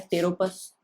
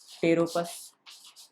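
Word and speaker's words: Pteropus: Flying fox, flying fox क्या होता है, टेरोपस, पी साइलेंट होता है, टेरोपस।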